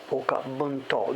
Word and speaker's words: Oka Bunto: In English it's Oka Bunto. The O is long, Bunto.